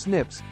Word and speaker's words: SNPs: as single nucleotide polymorphisms snps pronounced Snips and insertions deletions idles